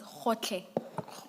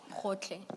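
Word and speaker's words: Gotlhe: Can someone who is Sotho Tswana speaking please pronounce that for us? Ta Advocate Powe. It's Hotle. Hotle.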